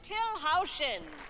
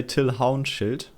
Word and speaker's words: Till Haunschild: audience here's the inventive till houston wait did i pronounce it wrong in germany what we would say till hound shield let me see that